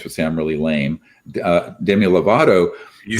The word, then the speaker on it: Demi Lovato: uh my kids was sam really lame uh demi lovato you said it right you said good so